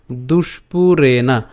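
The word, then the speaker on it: দুষ্পূরেণ: এরপর দুষ্পুরেনা, এই জায়গাতে আমরা একটু ভাঙাই, দুষ তারপর হচ্ছে পুরেনা, দুষ্পুরেনা, দুষ্পুরেনা নলেন চ।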